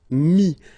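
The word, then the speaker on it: mis: And then mettre, to put, so e-t-t-r-e, will give you this i-s, mi. Same thing here, final s is not pronounced.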